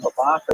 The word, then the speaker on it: Babatha: The name Babatha is a little unusual, that TH sound, which you don't normally find in Hebrew. In ancient Hebrew, the letter Saf pronounced that way, so it's not so crazy.